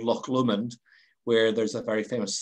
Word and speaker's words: Loch Lomond: now okay help me out here loch lomond pronounce it again loch lomond okay now i'll take the high road and